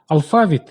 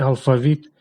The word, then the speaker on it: алфавіт: кількість яких дуже невелика ще можуть вживатися з двома наголосами афавіт і алфавіт договір і договір жало